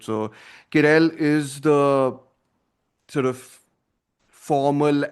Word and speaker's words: Querelle: I think there's a worthy argument to be made that Querelle, sorry, that's how it's pronounced apparently, right? So Querelle is the sort of